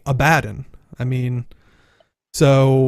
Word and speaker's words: Abaddon: In Guild Wars lore, his name is Abaddon. In reality, in our world, it's actually Abaddon.